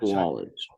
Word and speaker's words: Sawalich: the way, that is actually how you pronounce his name. It is Sawalich. Swallowage.